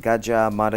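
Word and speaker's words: Gadjah Mada: also in the studio uh the team from gajja M University or GMU am I saying it right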